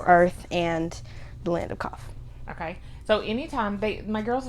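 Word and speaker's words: Qaf: into this new whole world called Kof. It's spelled Q-A-F, not the regular Kof.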